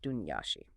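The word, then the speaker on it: Daoine Sidhe: The Daemin is seedy, and that's pronounced Dunyashi.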